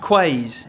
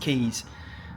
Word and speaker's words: Quays: We're over in Salford Quays is what I called it, but it's obviously pronounced Keys.